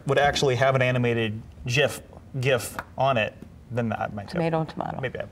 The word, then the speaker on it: GIF: I say JIF, but I know it's GIF because it stands for Graphics Interchange Format. Right. And it should be pronounced with that hard G, not a soft one. Yeah. However, the original creators say GIF should be a soft G.